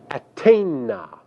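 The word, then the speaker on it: אַתֵּנָה: The second feminine plural form, which also translates you, is pronounced in Hebrew atena.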